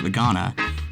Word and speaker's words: Voacanga: Voacanga, actually pronounced vegana, has an effect that